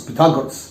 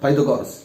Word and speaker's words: Pythagoras: It is how we have to pronounce Pythagoras, not Pythagoras.